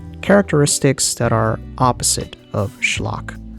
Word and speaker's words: schlock: that are opposite of schlock. The word comes from the Yiddish word schlock. Same pronunciation, different spelling.